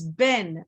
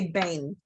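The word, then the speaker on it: בן: between as a bang the correct pronunciation of sun is ben not bain we don't say bane we refer to it as ben see what i'm saying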